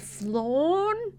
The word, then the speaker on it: flan: You pronounce it like pan in Spanish, like bread.